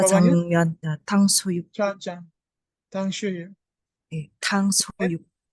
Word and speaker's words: 탕수육: Gimana bacanya? 자장면 benar Ustaz. Jajangmyeon. Yang bawahnya? 자장면, ya, 탕수육, Jajang. Tangshuyu. 탕수육. Tangsuyu.